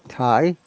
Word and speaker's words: thigh: increase yeah and this sound is high g is silent hi thai similarly thai time yeah similar thai and look